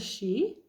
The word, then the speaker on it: Sidhe: But we're going to start out with an overall card from the Tarot of the She, which is a Celtic fairy, spelled Sidhe, pronounced she.